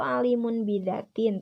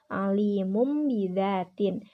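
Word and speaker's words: عليم بذات: Nah, kan ditulisnya itu alimun bidatin, tetapi dibacanya harus alimum bidatin karena Si tanwinnya ini dibaca mim.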